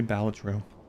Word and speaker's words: Balatro: Everyone's pronouncing it wrong. It's actually Balatro.